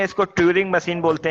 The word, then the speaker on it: Turing: बोलते हैं एक्चुअली, और नॉर्मल सेंस में हम लोग इसे क्या बोलते हैं, ट्यूनिंग मशीन बोल देते हैं। रिटर्न ट्यूरिंग, TURING, ट्यूरिंग machine होता है बेसिकली, लेकिन हम लोग प्रोनाउंस कर देते हैं ट्यूनिंग मशीन, राइट। ट्यूरिंग होता है, राइट।